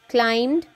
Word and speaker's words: climbed: look for more words mean straw needed helped climbed now inclined b is silent enough lying shared because remember let's move